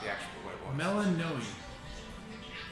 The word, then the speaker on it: Melinoe: Melanoe. Melinoe. Yeah. Okay, I did say it right. Melanoe.